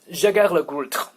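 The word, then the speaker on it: Jaeger-LeCoultre: But anyway, so Jaeger le Goult, that's if you want to pronounce it properly.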